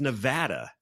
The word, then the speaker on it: Nevada: It's Nevada.